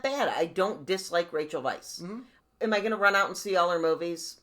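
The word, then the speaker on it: Weisz: and by the way we now properly know how to say her name right right it's Vice yeah I don't mean that bad I don't dislike Rachel Vice am I gonna run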